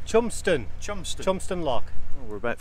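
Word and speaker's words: Cholmondeston: actually belongs to david charlemon distant lock but that's not how it's pronounced we're going to have the proper pronunciation in a minute proper pronunciation of this lock oh it's chumpston jumpstart thompson lock we're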